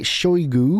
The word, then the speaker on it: Shoigu: Sergei Shoigu, is that how you say it?